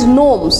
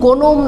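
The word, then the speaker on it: gnomes: আচ্ছা, এরপরে কিছু সুপারন্যাচারাল ক্যারেক্টার আছে, এগুলোর নাম হলো সিলভস, নিমস অ্যান্ড নোমস। এগুলো কিন্তু উচ্চারণের আছে, ব্যাপার স্যাপার আছে। সিলভস, নিমস আর গোনোম না, নোমস এগুলো হলো মিথোলজিক্যাল ক্রিয়েচার যারা বেলিন্ডাকে প্রোটেক্ট করেছে।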